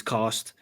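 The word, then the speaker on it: Castres: Saints versus cast um or castries. I've just heard a pronunciation is cast.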